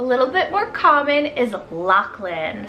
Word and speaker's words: Lachlan: main character a little bit more common is lachlan spelled l-a-c-h-l-a-n lachlan this one here i feel